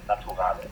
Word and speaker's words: Naturale: Is it Naturel, or how do you pronounce it? In the German style, you would say Naturale.